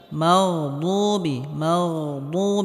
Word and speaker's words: المغضوب: মাগদুবি, এখানে গয়নে হালকা আওয়াজটা জারি থাকবে। মাগদুবি, এখানে দাল বলা যাবে না, বদ মোটা হবে।